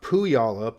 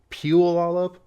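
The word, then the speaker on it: Puyallup: it it's pu Olive it's not poo y'all up it's peel all up that's hard to say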